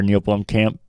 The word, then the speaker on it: Neil Blomkamp: You're close, if not there, Neil Blomkamp.